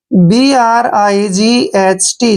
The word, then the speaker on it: bright: Next word है BRIGHT। जब भी टी से पहले GH आता है तो वहां पर GH हमेशा साइलेंट होते हैं, यानी कि GH को हमने नहीं पढ़ना है।